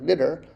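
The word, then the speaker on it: netjer: All you got to do is add that stroke line, and the flag that's pronounced NTR, knitter, just becomes, you still say netter, but it's literally the word God because you've added that stroke line.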